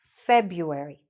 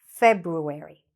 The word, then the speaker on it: February: February or February. Whichever way, the stress was at the beginning.